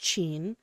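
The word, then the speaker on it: ちん: is a phenomenal translation chin pronounced chin can mean penis in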